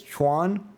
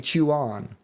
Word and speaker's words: Chuan: They're like, "No, no, it's They were trying to tell me it's Chwan, but I started saying chew on, chew on, chew on." And they're like, "It's one syllable. It's not two syllables."